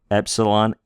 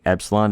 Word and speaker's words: epsilon: Epsilon, A. Zeta, Z. Z. Pardon me, Zeta is Z. Eta is A. Pardon me. Let's go back here and make sure we can say this correctly. Epsilon is A.